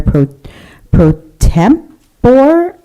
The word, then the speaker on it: pro tempore: So we're moving on to 8.1, selection oath for Mayor Pro Tempore. Is that the right way to pronounce it?